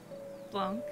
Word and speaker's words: Blanc: Blanc. You don't pronounce the C at the end. It's a French word.